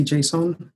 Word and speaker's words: JSON: Do you say JSON or do you pronounce it some other way? So I just say JSON, and I think if I had to explain